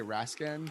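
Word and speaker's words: Rascan: i'm going to say raskin but i'm sure i'm pronouncing that incorrectly um but but uh let's let's go ahead and the pronunciation has been absolutely spot-on there you go right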